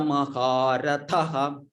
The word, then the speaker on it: महारथः: These have to be pronounced with more effort. These are not only it will help in your health also. It will improve the health also. It's a pranayama type exercise. It's an exercise also for the vocal regions. So we must pronounce it as Maharathaha. Maharathaha. Maharathaha. Yes, you must pronounce it like that. That will only give the effect, improve the health of the person who recites like that.